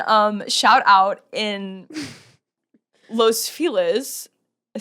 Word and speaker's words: Los Feliz: I thought it was los feliz. No, you say feliz naad. I know. I know. But we in LA we pronounce it the non- Spanish way.